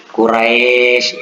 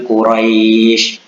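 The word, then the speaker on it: قريش: Kedengaran seperti bunyi i. Karena ada juga yang membaca Quraisy, nah, itu dibaca e, itu salah itu. Itu kasar, tidak lunak, tidak layyin. Nah, sementara di situ kita harus membacanya dengan layyin, dengan lunak.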